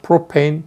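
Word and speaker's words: propane: 하는데 뭐 좋습니다 부탄 프로판 뭐 그렇게 알려진 일입니까 그 옛날이 두고 우리도 화합을 배웠으니까 요 정식적으로 6팩 네임에 그 원어민 아 가까운 발음으로 프로 페인 뷰 테인 하고 불러 주겠습니다 우리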